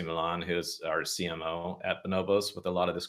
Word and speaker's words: Bonobos: heard of Bonobos or know that it's you know pronounced bonobos and it's not Bombas the sock company like all these different